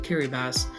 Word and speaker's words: Kiribati: The country of Kiribati, yes, it is pronounced Kiribati, has some interesting city names.